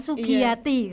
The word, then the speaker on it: Sugiyati: But sebenarnya simple kan, Sugiyati ya, tapi masih banyak pengejaan yang salah ya.